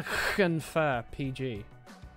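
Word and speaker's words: Llanfair PG: Whenever you see the double "l," it's pronounced like a hiss. Try to think of it like an irate cat when pronouncing those words.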